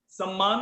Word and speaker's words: सम्मान: सम्मान में न नहीं होता, अगर अभी कुछ लोगों का प्रोनाउंस में सम्मान आ रहा है, न नहीं है उसमें, हमेशा म है, आधा म और पूरा म, सम्मान।